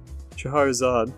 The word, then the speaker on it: Scheherazade: Am I pronouncing that right? Scheherazade.